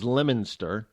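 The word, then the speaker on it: Leominster: or waret becomes wora Leo Minster becomes becomes lemonster I'm just just saying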